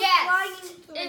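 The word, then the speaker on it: Ghast: It's a gasp. That flying thing is a gasp and not a ghost? No, it's called a gasp. There's the gasp. Oh. He's not saying it right. He's saying gasp, not guest.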